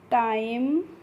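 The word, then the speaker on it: time: तो इसको हम टिमे नहीं पढ़ते हैं, क्या पढ़ते हैं, टाइम, और टाइम की हिंदी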